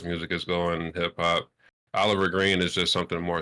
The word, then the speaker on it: Olvr: You still people say Oliver, right? That's how you pronounce it.